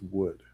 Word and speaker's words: would: Now, the L in wood is silent, so it's not woo, it's wood.